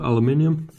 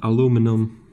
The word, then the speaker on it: aluminium: it's pretty solid actually it's uh aluminium or aluminum depending on how you want to pronounce it uh it works fine